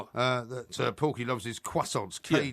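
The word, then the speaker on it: croissants: Uh that Porky Loves is quassons.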